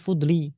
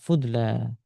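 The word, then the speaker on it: فضلى: Kalau seandainya iya, maka bacanya fudli. Tapi di sini alif. Alif namanya alif maksurah. Disebut maksurah karena dibaca pendek. Fudla.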